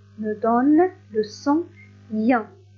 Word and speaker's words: ien: Le son IA s'écrit avec les lettres suivantes. I, E, N me donne le son IA. I, E, N se prononce IA.